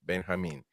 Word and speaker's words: Benjamin: That's how you say it in Spanish, by the way. Benjamin.